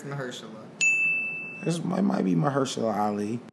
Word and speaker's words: Mahershala: I can never pronounce this nigga's name right. It's Marshala. It was at this moment that he knew. He fucked up. Marshala Ali. What the fuck was that? Mahershala.